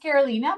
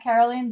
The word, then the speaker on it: Carolina: It's pronounced Carolina, but if you call me Carolina, Caroline, don't worry, I won't be offended, but it's Carolina.